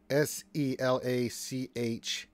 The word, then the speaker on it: Selachai: I've been hearing reports, and we've had spies looking into this, that a young female Sahaguin named Salachi, S-E-L-A-C-H-A-I. Can you spell that one more time?